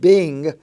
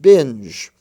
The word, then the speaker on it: binge: d g e is to make sure that you pronounce the g in the j form rather than the g form as you know the